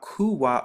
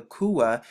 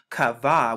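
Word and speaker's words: קוה: between the two languages between the restored language and the so-called modern hebrew because they pronounce it here in strong's h6960 kava which means to wait but when we actually look at it we know this makes the coup sound right here or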